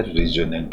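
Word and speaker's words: resonant: रिजोनेंट का मतलब होता है गूंज, इसमें टी साइलेंट होता है, रिजोनेंट ही बोलते हैं इसको।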